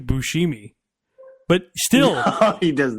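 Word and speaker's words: Buscemi: Like I've been I I believe Bushmi is honestly correct to people saying my name is Bushimi, but still he does not.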